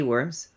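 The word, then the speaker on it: wyrm: It's spelt like worm as in a dragon's worm. Not ground and earthworms. Because they're gross. Oh. I've never heard of this worm with a Y.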